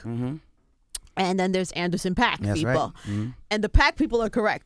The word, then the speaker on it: Paak: it's honestly it's it's properly pronounced Park is Korean oh yeah so you say I changed it to pack yeah why not when